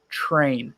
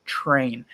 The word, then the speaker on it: train: say true train it's train train don't try to make a CH sound it might sound a